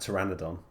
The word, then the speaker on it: Pteranodon: a line of the the P is silent so I'm I guess as they were talking about Pteranodon now another little detail